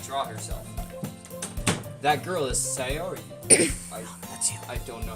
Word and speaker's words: Sayori: That girl is Sayori. That's you. I don't know how to pronounce that.